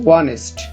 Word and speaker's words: honest: উদাহরণস্বরূপ এখানে যখন আমরা honest উচ্চারণ করতেছি তখন এইচটি উচ্চারণ হচ্ছে না, তারপরে যে ভাওয়াল রয়েছে ও সেটিকে উচ্চারণ হচ্ছে honest।